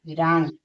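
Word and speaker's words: wrong: जब डब्ल्यू के बाद आर ओ आए तो डब्ल्यू साइलेंट होता है।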